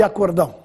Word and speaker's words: acordão: Qual é a diferença entre acórdão e acordão? O acórdão é muito utilizado em tribunais, pois se trata de um acordo judicial. enquanto o acordão é mais informal, feito entre amigos. É o aumentativo de acordo.